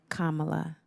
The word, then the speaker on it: Kamala: against President President Joe Biden and vice president Kamala Harris Kamala Kama like the pronunciation and I know that we've addressed this